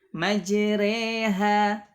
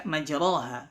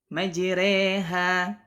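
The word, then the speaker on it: مجراها: Nah, jadi dibaca imalah, dimiringkan bunyinya jadi bunyi kasrahnya jadi majreha, jadi dibaca tipis, ya, bukan dibaca majroha, karena ini kita di riwayat Hafs an Asim dibaca majreha, Taib.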